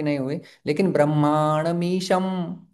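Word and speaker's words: ब्रह्माणमीशम्: लेकिन ब्रह्मामीशम तो ईशम के बाद जो है वह ईशम शब्द है वह यहां पर जो अनुस्वार है उसका उच्चारण म जैसा होता है। ब्रह्मामीशम तो फिर हमारा म के लिए ओठ बंद हो रहा है क्योंकि यह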